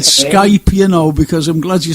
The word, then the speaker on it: Skype: my first time on Skype as well, Frank. Oh, is it? I'm glad you said Skype, because I'm glad you spelt you came out with the right pronunciation with the K, because some people get,